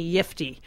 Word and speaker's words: Yiftee: spell it for me yiy oh thank you yes it's yiy y i f te as in uh yippy I got a yiy